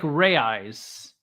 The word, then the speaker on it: reais: I try to pronounce it the way they do in that country. So even though it looks like reais, it's actually pronounced reais. Reais.